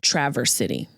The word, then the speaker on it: Traverse City: But ironically, maybe not so ironically, this city is pronounced Traverse City. So we traversed Traverse City, did a show there.